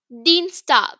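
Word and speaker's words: Dienstag: to tell you is i e in German is pronounced as e like Deans you will pronounce it as e Dean tag which is Tuesday and for instance if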